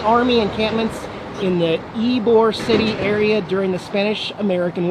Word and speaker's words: Ybor: And they made this spot here in Ybor. I asked somebody how to pronounce it, Y-B-O-R.